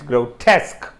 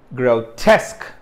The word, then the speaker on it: grotesque: so there we are and test is the is the stress syllable okay so yeah just just one comment about this before we proceed any further let me pronounce it two or two or three more times grotesque grotesque so this is it's not grow it's grill okay there is a diphthong here grotesque grotesque so the